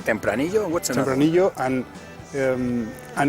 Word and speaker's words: Tempranillo: It's Tempranillo. Tempranillo.